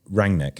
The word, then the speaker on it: Rangnick: saying Rangnick's name wrong. Right, okay. So, yeah, there you go. Yeah. What is it? Rangnick.